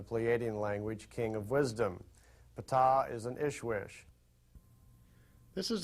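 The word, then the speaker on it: Ptaah: he got to meet P that's pronounced P he is the leader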